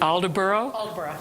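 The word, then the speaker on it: Aldeburgh: guest artist at the is it all de berault yeah I was wondering how to pronounce that I thought edinboro and Berg no okay thank you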